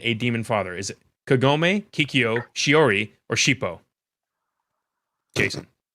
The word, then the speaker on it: Kagome: So your options were Kagome. Or Kikyo. Well, they're both K, I guess. that wasn't very good. Sorry. So Hey, Hey, here you go. Something that rhymes with homie, but more Oh, so like he's you wrong.